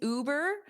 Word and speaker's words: Uber: and you can replace Uber with whatever you want. So, first of all, repeat that ooh, Uber. So, you have that long ooh. It's not you, it's not the letter U, it's ooh.